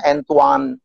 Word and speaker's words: Antoine: Antoine misalnya bacanya Antoine.